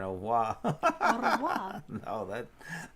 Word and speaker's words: au revoir: There's no, you don't roll your R in au revoir.